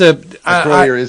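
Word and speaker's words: Acroyear: And that is the way you pronounce the name. Yeah, there's a Croyer is it. That's there's no two ways about it.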